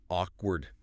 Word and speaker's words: awkward: But it's really just 2 syllables. Yeah, Toby Kirar. Awkward.